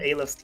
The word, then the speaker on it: Aleph: I'm so sad that I looked up how to actually pronounce that word. Aleph does sound so much better.